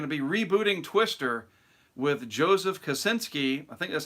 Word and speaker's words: Joseph Kosinski: And by the way, word has it that they're going to be rebooting Twister with Joseph Kosinski.